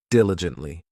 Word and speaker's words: diligently: This adverb has 4 syllables, and the stress is on that first syllable, diligently.